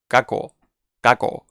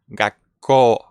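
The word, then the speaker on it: がっこう: it's doubling okay so if the little two is not here we would pronounce this caco but when the little two is there it changed from kako to gakko kako kako we double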